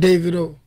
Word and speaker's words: Davido: is David artist named David oh love it alright so you like it pronounced David OH anyway peaking I mean